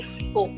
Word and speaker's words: faux: yes it is definitely four. Firstly the last letter is silent. We do not pronounce sex. And in au we learned in chauffeur it has the o sound for.